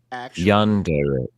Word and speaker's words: yandere: have breaking news I know exactly how to pronounce it here it is oh God has Google told you YouTube told me listen yandere yandere y yand tell us no there not